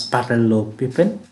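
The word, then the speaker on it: parallelepiped: of the parallelo pivot so this one is pronounced as parallel piping gives the volume of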